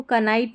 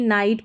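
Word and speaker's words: knight: जैसे इसको कनाइट नहीं नाइट पढ़ते हैं, कनाइफ नहीं नाइफ पढ़ेंगे, क नैपसैक नहीं नैपसैक पढ़ेंगे, ठीक है.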